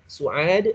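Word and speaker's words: سعاد: Tadi Su'ad ini nama perempuan ya. Su'ad nama perempuan.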